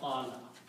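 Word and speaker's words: قال: Okay, and waw with a fatah sounds like an alif, so this is become being a qala.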